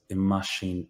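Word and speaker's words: i mbáisín: don't hear this B we spell it but we don't we don't hear it we pronounce it imash iska bashin is a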